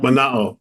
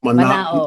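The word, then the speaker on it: Manaʻo: Mana'o. M A N A O. A A N A O. We pronounce all the vowels. Mana'o.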